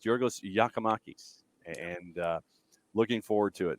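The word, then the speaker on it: Giorgos Giakoumakis: He's Yorgos. And so, so AT&T has once again is reminding us in a very subtle way about how to pronounce Yorgos Yakimakis, and looking forward to it.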